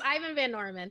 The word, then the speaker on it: Ivan Van Norman: Xander, he has done an Altered Carbon campaign where Ivan Van Normal, the one to blame for all your pain. I should say his name right. So yeah, the full title. Know, it's Ivan Van Norman.